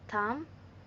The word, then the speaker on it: thumb: Notice: B is silent in lime, thumb, comb, and index subtle dub.